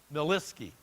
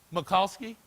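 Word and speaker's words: Murkowski: by this woman representative I always get her name wrong miliski go ahead tell me Makowski all right thank you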